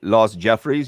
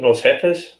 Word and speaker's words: Los Jefes: So if I say Los Jeffries, you have no idea who he is? You mean Los Jefes? Come on, Sorry, man. that's my gringo pronunciation.